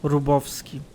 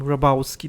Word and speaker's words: Grabowski: And it's a Polish last name, and it's pronounced Rubowski. Like in Polish, right? Like when you Americanize it, and when the guy who wears a Polish name is an American, then I guess you call him Rabowski then.